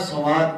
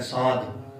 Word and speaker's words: صاد: سواد پڑھتے ہیں، سواد۔ آپ یہ اس کے آگے تلفظ دیکھیں نا تو یہ واو کو نہیں ہے اس میں، سواد الف زبر سا، آگے پھر دال ساکن ہے، ساد، ساد، سواد نہیں، ساد۔ پھر اب اس کو